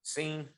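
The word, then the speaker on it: Cine: i always pronounce it is it sign or scene scene scene remember we i talked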